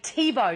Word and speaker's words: Thibault: Whew, it's Autism Awareness Month, and we're joined by author and mother Sally Thibault. Did I pronounce that correctly?